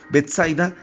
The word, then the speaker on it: Betsaida: realidad esta palabra griega, así como lo dice solamente con doble S, Betsaida con acento en la A final, quiere decir casa de frutos, o quiere decir una casa que tiene pesca.